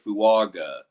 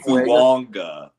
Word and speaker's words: Fuaga: We're all saying Talise Fuaga. That's incorrect. It's Talise Fuanga. Like there's an N.